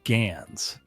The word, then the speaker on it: GANs: The rapid accessibility of AI tools, such as in generative adversarial networks, pronounced GANs, has made it easier for anyone to create convincing deepfakes, and they are not limited to visual media.